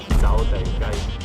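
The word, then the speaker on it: 走地雞: So in Cantonese, this is called Zao Dai Gai.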